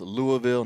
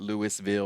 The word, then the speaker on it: Louisville: And yes, it's pronounced Louisville, not Louisville or Louisville.